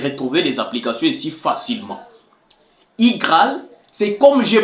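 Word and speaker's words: iGraal: permettre aussi de retrouver les applications ici facilement igal c'est comme j'ai prononcé là i ce n'est pas u i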